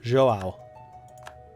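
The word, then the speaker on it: João: Do not pronounce the first letter O of the Joao.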